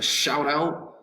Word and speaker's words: shout out: out second syllable a shout out shout out i think the to to give someone a shout out this the syllables actually the accent is going to be over the second word out and we would pronounce